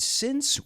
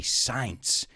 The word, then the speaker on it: since: I've heard a lot of my students say science, and it's not pronounced science, it's since.